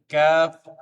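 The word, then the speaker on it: ق: আবারও পড়ি আমরা: বা, জিম, খ, সদ, মিম, হা, কাফ, শিন, আইন, লাম, বা, গাইন, কাফ, কফ, সিন, হা, তা, মিম। আবার কাফ, কফ, সিন, হা, তা, মিম। প্রত্যেকটা হরফ সঠিকভাবে সুন্দরভাবে তার মাখরাজ থেকে উচ্চারণ করতে হবে, তাহলে পড়াটা সহি হবে।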